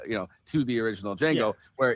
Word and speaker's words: Django: N G O the the D is silent.